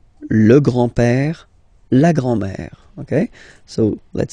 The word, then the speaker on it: grand-père: Le grand-père. Remember, E accent grave like that. It's this opened père.